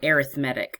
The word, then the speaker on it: arithmetic: Well, if it's arithmetic, or arithmetic is the proper pronunciation, then that means they're adding something.